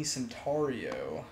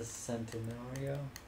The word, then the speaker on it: Centenario: I'm going to be using the Lamborghini Centaurio. Ooh. It's the bad bitch of this game. The bad bitch? It's actually pronounced the Centenario.